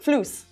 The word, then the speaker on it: floos: Floos. Floos. Okay, floos. Can you spell that for me, please? F L O O S. F L O O S, like floss, but spelled floos.